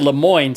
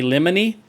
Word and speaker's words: Lemoyne: One is he said Lemoyne, so apparently I have been pronouncing that correctly because I was starting to think it might be Lemony, but he said Lemoyne.